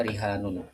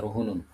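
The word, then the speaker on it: فَرِهَانٌ: Jadi kalau bacaan kita dibaca rihanun rihanum. maqbudah. Adapun di bacaan Ibnu Katsir dan Abu Amr atau Abu Amrin ya itu dibacanya faruhunum maqbudh. Dibaca ruhunun tiib.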